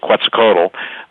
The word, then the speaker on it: Quetzalcoatl: So what that means is that the shapeshifters, and by the way, ladies and gentlemen, if you look up Quetzalcoatl, or some people pronounce it Quetzalcoatl, the great Aztec god, the giant gods of